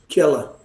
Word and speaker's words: Kerala: long er er you have a so it's pronounced so again you see here again so it's not hula it's actually kerala and it's this is optional this r at